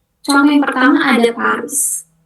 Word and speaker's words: Paris: Contoh yang pertama ada Paris. Paris tuh dibacanya pari pari. Jadi snya enggak dibaca, R-nya juga harus ditenggorokkan.